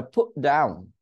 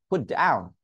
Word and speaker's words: put down: hat, hat trick, hat trick, hat trick, the put down, put down, put down, put বলি নাই, put down, অর্থাৎ টি উচ্চারণ করা থেকে আটকে দিয়েছি।